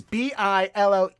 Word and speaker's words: billet-doux: Well, since you brought it up, our word of the day today is billet-doux. I think I'm saying that's right. Let's go ahead and listen to a pronunciation of that word because I can't be